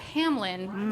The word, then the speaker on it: Hamlin: Oh, what a perfect Hamlin rhymes with another name of a man we don't like.